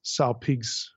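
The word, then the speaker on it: σάλπιγξ: for Trump trumpet is it's hard to pronounce Saul Peaks or something like that you have two consonants the G and the s bump into each other it makes it difficult so we've got in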